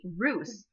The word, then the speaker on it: Roos: I always want to say Rouse. There's a grocery store in New Orleans called Rouse's, and it's spelled exactly the same. Anyway, Hank Roos said that Shakeology is his nutrition foundation.